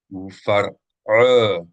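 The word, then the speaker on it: פרעה: Mentioned before, the is separate syllable from the resh. And we can see it here in the Hebrew. There is a shawa under the resh. That tells you that the resh, the R consonant here, does not belong to the same syllable as the hulam of the ayin. This would be the case with any time you have a shawa, for any type of shawa.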